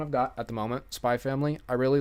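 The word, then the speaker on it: Spy × Family: Spy Family. I really like the anime. I haven't actually... Yeah, Spy X Family. You don't pronounce the X, technically.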